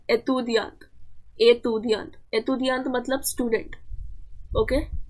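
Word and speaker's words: étudiant: Okay, इसलिए ये जो है अक्यूट एक्सेंट कहते हैं और इसका प्रोनाउंसिएशन होता है ए। तो यहाँ पे दिया है एतुदियांत, एतुदियांत।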